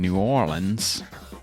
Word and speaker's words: New Orleans: these guys from from down south down in new orleans and that's how you say it they came